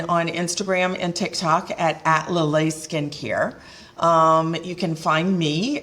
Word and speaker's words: LALAIS: No, the S is silent. LALAIS.